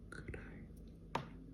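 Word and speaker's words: 暗い: So dark, the pronunciation for dark in onyomi is an, and it's kanyomi, so the Japanese pronunciation is kurai, kurai.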